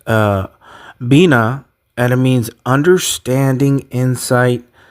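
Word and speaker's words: בינה: And the number 999 in Hebrew means it's it's pronounced uh bina and it means understanding insight discernment means to understand or to or to discern.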